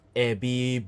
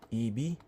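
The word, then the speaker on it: 海老: sushi we have this ABB boiled shrim not EB it's pronounced as ABB we have this Eola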